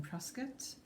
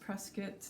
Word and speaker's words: Prescott: who don't know halstead is just up in prescott um for those of us who didn't know how to say press get it's pronounced prescott not prescott by the locals so if you